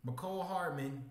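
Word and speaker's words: Mecole Hardman: I feel like Patrick Mahomes, Marquise Brown, McCole Hardman.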